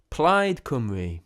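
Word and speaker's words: Plaid Cymru: It's spelt played, isn't it? Spelt played simu. Oh god. Well, it's No, no, it's Welsh. So there it's a different language.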